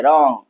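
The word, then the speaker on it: wrong: तो डब्ल्यू हमारा क्या हो जाएगा? साइलेंट हो जाएगा। तो हम इसे क्या पढ़ेंगे? रॉन्ग पढ़ेंगे। क्या पढ़ेंगे? रॉन्ग।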